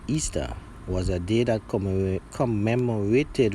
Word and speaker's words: Ishtar: Ishtar was also known as the Queen of Heaven, which is pronounced Easter, was a day that commemorated resurrection of one of their gods that they call Tammuz.